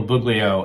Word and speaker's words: Buglio: cool good afternoon everyone my name is buglio and I will spell that last name it's b as in boy